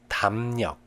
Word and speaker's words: 담력: If there is a rear consonant after mium, iung in Chinese character, it's pronounced as nian. 담력, 담력.